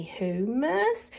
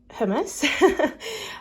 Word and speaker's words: hummus: I've got some humus I always want to say humus don't even know why I think it's cuz I'm from suffk and I've heard people say it like that so um yeah anyway off topic this is hummus I got two of